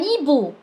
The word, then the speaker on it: hibou: Un hibou. Un hibou. هنا لو لاحظتوا ما ننطقش حرف الآش.